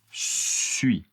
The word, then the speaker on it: suis: Pour la première personne, je je suis je suis Attention, le S n'est pas prononcé.